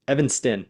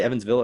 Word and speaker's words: Evanston: I feel like I've said the city name wrong a million times. Evanston. Did I say Evansville earlier? Anyway, Evanston, Illinois.